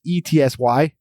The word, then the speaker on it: Etsy: Well, there's some controversy in how you say it, but it's ETSY, Etsy, whatever the fuck.